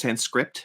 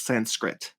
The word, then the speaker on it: Sanskrit: always thought it was Sans script it's Sanskrit yeah you don't pronounce the P yeah there's no P